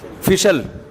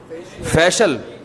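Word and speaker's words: facial: फिशल फिशल फिशल फैशल अबे सही pronunciation बुलवाया करो। फिशल ना फैशियल ये अमेरिका से आए हैं।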